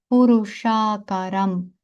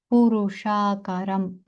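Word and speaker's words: पुरुषाकारं: крапочкою під латинською с тому ми з вами вимовляємо це як ш в деванагарі ви бачите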